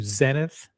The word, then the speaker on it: Zenith: Because now we're going to get into ublau and we're going to get into zenith which are pronounced ublau and zenit in French.